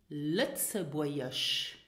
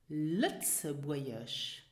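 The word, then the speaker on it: Lëtzebuergesch: Lützeburgisch. Lützeburgisch. Now as you can hear, the letter G is not pronounced here. It is silent.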